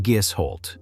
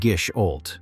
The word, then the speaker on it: Gisholt: You pronounce it Gisholt if you grew up near Telemark, and Gisholt if you grew up anywhere in America, which is how most machinists say it.